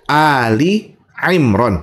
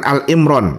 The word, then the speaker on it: Ali Imran: Ingat ya, Ali Imran bukan Alimran. Ah, ini sering salah orang bacanya.